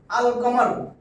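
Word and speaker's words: القمر: আর কামার আল কমার। দেখেন কমরার শব্দের শাশে আলিফ লাম যোগ করছি। কিন্তু লামের উচ্চারণ হইছে আল কমার।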